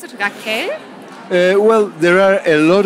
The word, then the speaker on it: Raquel: But we say Raquel. Okay, for Raquel.